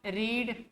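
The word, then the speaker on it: read: third form रीड इसका first form second form third form सब यही होता है बस प्रोनंसिएशन चेंज कर दिया जाता है रीड रेड रेड पढ़ा जाता है स्पेलिंग में कोई चेंजेज नहीं आता है ठीक है इसके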